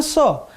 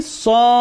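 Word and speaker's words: ص: Jangan bacanya so, tapi Shad.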